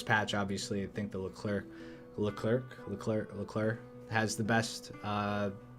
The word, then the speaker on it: Leclerc: After this patch, obviously, I think the Leclerc has the best. Somebody said the C is silent on it, so I'm trying not to pronounce the C.